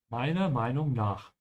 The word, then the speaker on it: Meiner Meinung nach: Meiner Meinung nach. The R, when you're pronouncing it, is very slight, depending on the region in Germany. But it exists, and make sure to remember that it exists, so whenever you write